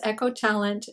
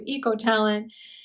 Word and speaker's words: EchoTalent: So, because my first language is Spanish and not English and we do not pronounce the letter H in Spanish, I did mispronounce echotalent to ecoalent.